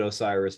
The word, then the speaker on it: Osirs: there's it's an acronym so it doesn't we pronounce it osiris but that's you know so o-s-i-r-s dot co